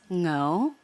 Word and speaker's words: Ngo: No is spelled NGO, which is my maiden name, and it's pronounced no, but you could just say no.